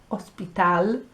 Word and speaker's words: hospital: I would also like you to notice that we say hotel and hospital, and they say hotel and hospital. So the H isn't sounding.